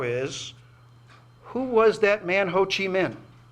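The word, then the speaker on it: Ho Chi Minh: who was that man hoochi Min or is it is pronounced in some parts of Vietnam as I discovered hoochi mink America's principal Nemesis throughout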